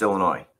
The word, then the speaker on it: Illinois: incarcerated by the way the state is pronounced Illinois Dixon Correctional Center Corporation